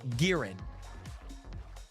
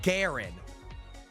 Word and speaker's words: Garen: Okay, there's guys, there is a hero in League of Legends called Giren.